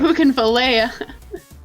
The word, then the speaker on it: Bougainvillea: Like how- Bougainvillea.